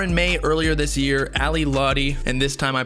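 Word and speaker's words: Ally Lotti: for in may earlier this year ali lottie and this time i pronounced it correctly for all the juice world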